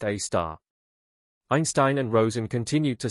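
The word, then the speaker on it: Sagittarius A*: our own Milky Way Sagittarius a asterisk pronounced a star.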